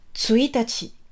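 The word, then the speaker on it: 一日: Donc pour le premier jour du mois, donc on met un 1, on met le kanji nichi, mais ça se prononce tsuitachi.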